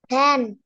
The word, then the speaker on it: van: van, আবার বলে ভ্যান? হ্যাঁ, এটা কি ভয়ের মতো উচ্চারণ হবে? নো, ভ্যান, ভ্যান। মুখে van, একটা মৌমাছির চাকের মৌমাছিদের মতো ভাইব্রেশন হবে। ভ্যান, ভ্যান।